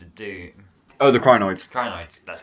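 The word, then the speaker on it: Krynoid: Also, the other one I thought was the Kryptonoid, wasn't it, from the Seeds of Doom? Oh, the Crinoids. Crinoids, that's how you pronounce it.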